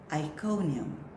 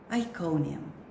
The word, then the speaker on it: Iconium: Iconium. Iconium.